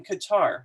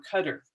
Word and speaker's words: Qatar: overseas right now in Qatar or Cutters either way you want to pronounce that and here he is